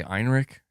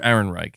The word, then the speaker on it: Ehrenreich: Saying Ehrenreich. Is that how you say it? Ehrenreich? Okay, Ehrenreich. Hopefully that's correct. What did I say? Heinrich? Ehrenreich. Okay, Andrew Ehrenreich.